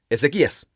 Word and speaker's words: Ezequías: Ezequías. Claro. Así se pronuncia su nombre.